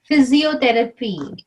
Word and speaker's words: physiotherapy: it sounds like Jay P is pronounced as if like physiotherapy just do like a F it's not pee yeah phobia not pee